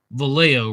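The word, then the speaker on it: Vallejo: committed his crimes in valo right you don't pronounce the J I saw this in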